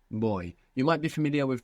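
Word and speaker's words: voy: our way through it the word for I go or I'm going in Spanish is is boy boy boy boy good now this is actually spelled v y now the v in Spanish can sound like a v in English like a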